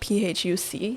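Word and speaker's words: Phúc: names that are like phuc have you seen those no yeah but apparently they're not pronounced with an f either do you enjoy um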